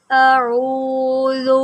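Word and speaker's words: أعوذ: لفظ دیکھتے ہیں، قل اعوذ برب الفلق۔ یہاں پر قاف کو موٹا کریں، قل اعوذ، یہاں پر پڑھ دیا جاتا ہے اعوذ اعوذ اعوذ، تو عین کس نے پڑھنا ہے؟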